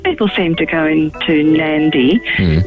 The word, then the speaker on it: Nadi: But most people seem to go into Nadi, which is spelled N-A-D-I but pronounced Nandi.